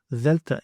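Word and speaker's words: δέλτα: You may know this letter as the letter delta in English, but in fact it is delta in Greek. And that initial sound from the word delta is the sound that I want. In the English example I have for you here is the word then.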